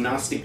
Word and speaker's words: Gnostic: gnostics here's the everything Gnostic Gospels Group which I'll explain in a moment what are gnostics exactly H and why don't you pronounce the G just Gnostic like that um the gnostics taught